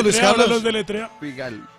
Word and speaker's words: Figal: ¿Cómo se pronuncia eso, deletrea, Luis Carlos? Los deletrea. Figal, F-I-G-A-L.